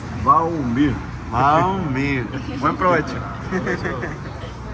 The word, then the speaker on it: Valmir: Mi nombre es Valmir en español, pero en portugués es Valmir.